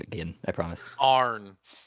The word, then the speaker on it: Arn: Arn. Arn. Okay. A-R-N. I'm gonna Like spell it barn. phonetic. A-R-N. I heard A-R-O-N for some reason. Nope. Arn. Yeah, it's like Arn, like and.